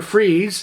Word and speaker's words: Fries: he became a villain Victor freeze even though it's spelled as Victor Fries Dr Victor freeze actually